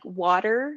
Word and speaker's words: water: And for things like water, we pronounce with a D, not a T.